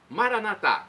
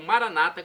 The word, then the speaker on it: Maranata: E agora do aramaico eu clamo Maranatá, como dizemos nós católicos, ou Maranata, como dizem nossos irmãos separados, os evangélicos ou protestantes. Não importa a pronúncia, o significado é o mesmo.